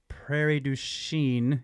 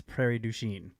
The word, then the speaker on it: Prairie du Chien: in Turkey P.S uh Prairie Duchene is Prairie du Chien okay he's pronunciation okay thank you what were